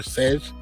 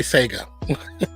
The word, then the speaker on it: Sega: So it's pronounced like Sega or Sage. We say Sega because the commercial says Sega.